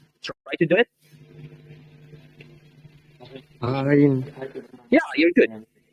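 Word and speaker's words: عين: Imagine you are like trying to pushing something out of your throat.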